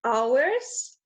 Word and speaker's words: hours: It's a silent H that should be there. Not hours, but hours in terms of time has a silent H.